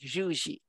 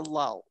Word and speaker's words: Llull: Well, if we were in Spain, you'd pronounce it something like Juji. Anglicized to Llull.